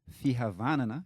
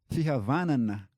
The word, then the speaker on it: Fihavanana: unique value that we hold dear, which is Fihavanana. Can you pronounce that a little bit? Fihavanana. Fihavana. Fihavanana.